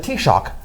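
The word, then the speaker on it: Taoiseach: them the Prime Minister they called them the tea shock is Gaelic it's spelled omae a o i se ACH Gillick is a weird language uh-huh taste shock okay so that's how you say Prime Minister in Gaelic anyway so human this partner dr.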